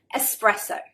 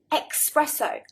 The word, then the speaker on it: espresso: get it right but English people often add an X espresso espresso I think they're getting confused between express meaning fast quickly and espresso so number one guys